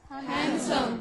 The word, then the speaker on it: handsome: So, here you also find that letter D is not Prominent. It is not pronounced.